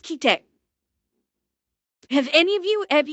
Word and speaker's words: Kite: Chat, how many of you have seen the anime I think it's pronounced kite? Have any of you have any of you seen that anime? It's pronounced kite.